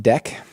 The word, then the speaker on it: deque: I'm sure it's the way, but DQ, pronounced deck. Yeah. So I don't know. For me, I still say DQ. I don't say deck. Like it's spelled DEQUE, and I know a lot of computer science people just call that deck.